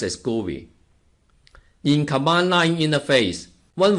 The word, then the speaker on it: GUI: graphical user interface, or GUI, which is usually pronounced as GUI.